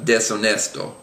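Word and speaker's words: deshonesto: like that um and finally at the end we have desonesto so the H is not pronounced um moving on to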